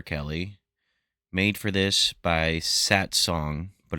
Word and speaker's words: Satsang: made for this by Sat Song, but it's spelled Satsang in case you want to look that up.